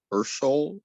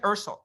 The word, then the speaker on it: Ulysses: Yes, my name is pronounced Urshol, and it is the Latin form of the Greek name Ulysses. Although I'm not Latin, but that's I love this.